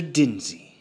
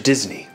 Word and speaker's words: Disney: So you are, in fact, Mr. Dinsey. No. Mr. Disney. If you're gonna say it right.